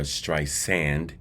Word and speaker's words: Streisand: back at Babs Barber stri sand and please clearly understand I am pronuncia Barbara stri sand with an S not a z I know in the